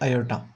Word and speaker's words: iota: इसको इस तरह से इटैलिक फॉर्म में लिखा जाता है आई की फॉर्म में और इसके स्पेलिंग है IOTA। इसको बोला जाता है आयोटा।